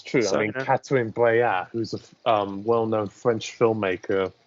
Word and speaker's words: Catherine Breillat: Cataline Breillat. Like Catherine, and the surname is Breillat.